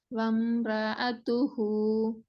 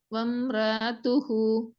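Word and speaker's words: وامرأته: வம்ரஅத்துஹு இன்னும் சவுண்ட் வரணும். தான் வருது. அ சும்மா நார்மலா வம்ரஅத் வம்ரஅத்துஹு அதுவும் ஓதுறீங்க. அது பிழை. இல்ல. ஆண்டா தொண்டையில கடைசி பகுதிக்கு பேசிட்டு ஐன உச்சரிக்கிறீங்களே. என்று சொல்லி. வம் வம்ரஅத்துஹு இப்ப வந்து இப்போ உச்சரிச்சது சரி. ஆனா இன்னும் தெளிவாக உச்சரிக்கணும்.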